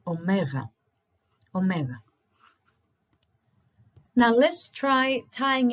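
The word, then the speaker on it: ωμέγα: they pronounce it as Omega but it's once again wrong so replace the G with a W as we've done previously so try saying Omega Omega now let's try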